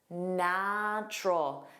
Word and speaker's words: natural: What sound don't you hear? That middle u. Natural. There are two sounds.